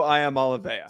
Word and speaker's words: Iamaleava: Yes, Nico Iamaleava.